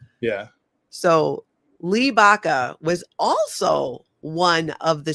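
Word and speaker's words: Baca: But Sheriff Lee Lee, but even well beyond Baka, is that how you pronounce it? Do you know if it's Baka? Yeah. So Lee Baka was also one of the speakers at this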